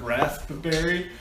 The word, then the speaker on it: raspberry: Dude, somebody on Reddit posted that today I learned that there's a P in the word raspberry, and I said, and I replied something like, my brother pronounces it rasp, and then I said 2-second pause, berry.